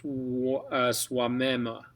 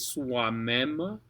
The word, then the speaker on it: soi-même: Now, oi makes a we kind of sound. Or in this case, soi-même. Okay, soi, or soi is soi in this case, soi-même.